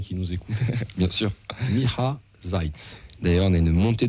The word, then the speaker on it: Miha Zajc: Miha Zajc. D'ailleurs, on a une montée de Slovènes là, qui s'abonnent, mec. C'est, Donc, je répète, Miha Zajc.